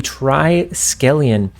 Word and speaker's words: Triskelion: Oh, so the second location is the Triskelion.